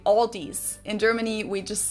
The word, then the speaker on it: Aldi: Of course, when these American English speakers say Aldi, that's not like my O in lot or cloth. It's their A as in palm or father.